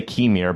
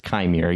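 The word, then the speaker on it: Qimir: does anybody know kimere I was going to say kemir but it's kimere yes may plans to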